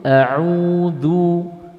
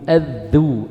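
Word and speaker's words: أعوذ: Kemudian di dalam pengucapan dal di dalam isti'adah ada di antara poin kesalahan yaitu menarik mulut sehingga membentuk edu. Ini salah. Contoh ada yang membaca seperti ini, Pak. A'udzu, a'udzu, adzu. Ini salah.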